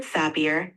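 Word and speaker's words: Sapir: this uh this to name the names are pronounced Edward sappier and Benjamin Lee WF you're doing great with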